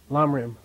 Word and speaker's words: Lamrim: Pronounce this? Lamrim.